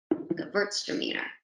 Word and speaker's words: Gewürztraminer: So it's a V on that W pronunciation, German word, Gewürztraminer.